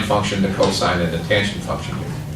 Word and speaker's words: cosine: That's pronounced sine, cosine, and tangent, but we abbreviate them sin, cos, and tan. Please don't call them sin, cos, and tan. Sine, cosine, tangent.